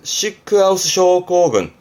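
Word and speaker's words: シックハウス症候群: 발음은요, 시크하우스, 시크하우스 쇼코군.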